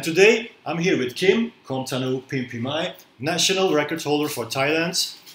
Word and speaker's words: Komtanoo Pinpimai: Komtanoo Pinpimai. Do I pronounce that right?